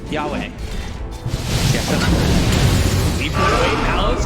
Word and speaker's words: Yowe: So chat said it was Yowe. Yahweh.